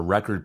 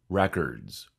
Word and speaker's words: record: digitized music there were record players that played records nowadays the word turntable is used in place of record player when this word is a verb the accent is on the second syllable record record she records